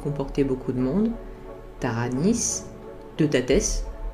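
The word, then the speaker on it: Teutates: Il comportait beaucoup de monde, Taranis, Deutates, parce que c'est comme cela que ça se prononce en réalité, Belenos, Belisama, Lug, Epona, Dagda, Esus, etc.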